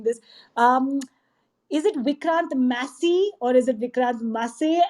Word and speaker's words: Massey: Massey is pronounced as Massey, but there are so many people who call me Masi. They call me Masi.